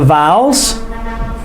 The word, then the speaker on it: vowel: We pronounce it vowel. Man vowel, vowel, because the OW makes the ow sound, not the owl, it's ow.